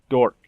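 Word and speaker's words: Dokr: a little confusing so her gamer tag is pronounced dork okay but it's spelt d-o-k-r now her youtube is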